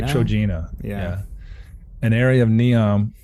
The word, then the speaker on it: Trojena: How would you pronounce it? I'd say TROJENA.